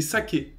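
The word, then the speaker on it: 鮭: a une bonne idée le mot japonais pour saumon c'est saqué oui un peu comme l'alcool mais ça s'écrit pas de la même façon et ce mot saqué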